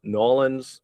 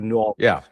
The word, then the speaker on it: New Orleans: But you lose the R. You New Orleans. New Orleans. It's two syllables, but Orleans in the in the end there.